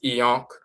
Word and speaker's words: ankh: And that yonk comes from a variation of the term ankh, which is also pronounced eonk.